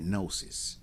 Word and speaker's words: gnosis: The the G is silent.